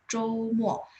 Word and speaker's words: 周末: Mo, tapi bacanya MUO. Pas baca mo ya MUO, tapi tulisnya MO.